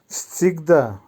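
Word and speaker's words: всегда: উচ্চারণ হবে আবিসনা। আবারও বলছি আবিসনা। সিগদা, সিগদার অর্থ হবে সর্বদা বা সবসময়।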